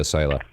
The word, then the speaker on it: Soila: Welcome to KLEAN Radio, Soila. Hi. Did I pronounce it correctly? Yes, Soila.